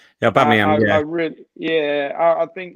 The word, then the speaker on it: Aubameyang: But like, if I was to say honestly, it'd be Özil, Lacazette, and I'm going to try and pronounce his name, Aubameyang. Is that right? Yeah, Aubameyang.